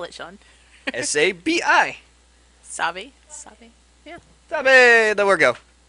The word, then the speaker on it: Sabi: you say sabi sabee saab how do you spell it sean s-a-b-i sabi yeah there we go i hit i